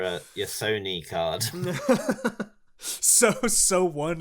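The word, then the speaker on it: SONE: your sony card so so one is how you say that okay so that's at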